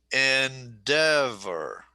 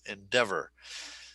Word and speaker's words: endeavor: Endeavor. Endeavor. Endeavor. Okay. So that is what we call a 3-2 word. There are 3 syllables, accent on the second syllable, endeavor.